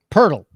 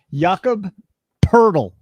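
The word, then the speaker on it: Pöltl: Purle, not hurdle. Purle. Yakaburle is how it's pronounced. Yakob purle.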